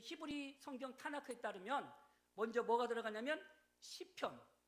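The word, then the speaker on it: תנ״ך: 타나크. 원래 저기에 토라의 T자와 네비림이라고 하는 N자와 케투빔이라는 K를 합쳐서 KTN이라고 하지 않고 아 발음을 넣어서 타나크 이렇게 합니다.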